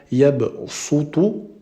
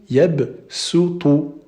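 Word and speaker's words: يبسط: Ça, c'est pour indiquer que on prononce pas le sad, mais on va prononcer le sin. Donc, on va pas dire de manière grave yabsutu, non, mais plutôt yabsutu. D'accord? Donc, il y a une petite nuance ici. On va prononcer comme un sin et non pas comme un sad.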